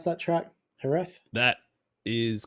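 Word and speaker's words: Jerez: you'll hear people say herth or Herz yeah like it's but yeah you def it's definitely not a j that you pronounce it but yeah it's the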